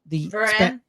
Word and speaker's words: Varane: Varane.